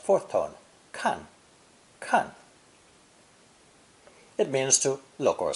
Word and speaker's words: 看: an ideogram of a hand above an eye pronounced fourth tone kan khan it means to look or see when pronounced first tone kang khan it means to watch look after or guard